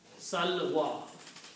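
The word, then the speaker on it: السلوى: But the pronunciation is wa. Sal wa. Mud. Yeah, a little bit is stretching. Yeah. Two sounds of mud.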